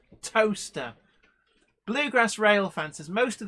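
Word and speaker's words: Towcester: in the UK called toaster it's not spelled like the Appliance in your kitchen it's spelled Tau t-o-w sester c-e-s-t-e-r but it's pronounced toaster Bluegrass rail fences most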